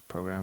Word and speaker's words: PRGRM: right up here JM but we pronounce program broke yeah that's cool